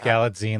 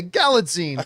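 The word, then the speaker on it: Galitzine: here the grammar man I think it's galine like magazine okay galine there we go who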